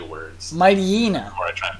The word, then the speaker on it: Mightyena: Mightyena. That's awful. I'm losing my ability to say words. Mightyena. Or I try and pronounce it.